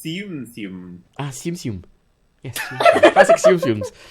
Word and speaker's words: Tsum Tsum: It's pronounced Tsum Tsum.